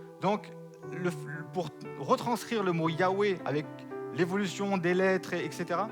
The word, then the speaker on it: Yahweh: Yahweh. Pourquoi Yahweh est la traduction la plus possible et la prononciation la plus possible? Déjà, pas Jéhovah.